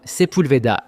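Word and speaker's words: Sepulveda: Règle numéro 2, apprenez la bonne prononciation de certains noms de rue. C'est Taunga, Koanga, Figueroa, Sepoulveda, Wilshire, pas Wilshire et Doeni.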